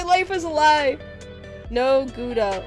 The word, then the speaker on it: Gouda: Gouda. Not Gouda.